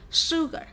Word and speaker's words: sugar: À, chữ s đôi khi nó đứng ở đầu thì cũng sẽ được phát âm là sh. Ví dụ như trong từ sugar. Sugar.